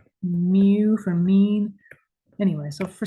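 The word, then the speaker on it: μ: in half we use the Greek letter pronounced mu I know like a cat right mu whenever I see that I always think of meow okay why am I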